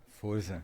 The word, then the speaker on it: Forza: Pronunciou, correto. E o nome da empresa? Fosa. Forza.